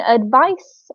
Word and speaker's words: advice: There is a slight difference in the pronunciation Mm-hmm. between advice, which is very soft, and advise, which is, Mm-hmm. a harsher sound.